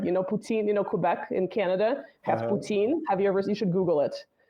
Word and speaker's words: Poutine: So personally, I prefer the French one, Putain. Poutine, like poutine, the food in Quebec, right? That's disgusting. I know some people love it. Poutine, Quebec in Canada has poutine.